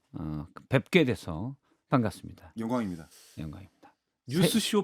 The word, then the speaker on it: 뉴스쇼: 뉴스쇼. 잘하시네. 뉴스쇼. 저는 이금희 아나운서님이 오셔가지고 알려줬어요. 핀셋 과외를 받았구나. 그렇죠. 전문가를 박선태의 뉴스쇼. 액센트를 앞에다 두고 뉴스쇼.